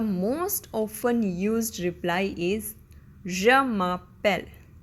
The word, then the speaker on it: je m'appelle: The most often used reply is Je m'appelle. Je m'appelle, which literally means I call myself. Okay? To properly pronounce it, it sounds like je m'appelle, je m'appelle, je m'appelle.